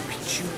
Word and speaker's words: Picchu: So, for most speakers of English or Spanish, the first C in Pichu is silent.